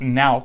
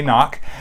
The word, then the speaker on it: Nauck: is a German name it's actually pronounced now in Germany from what I understand but in the States we say knock or at least in